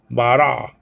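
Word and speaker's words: ברא: like a sound okay so ba la okay bara bara okay bara so that's da RA that's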